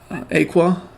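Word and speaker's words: Aequa: linistia um I believe the other one has Aqua that's how you say her name she was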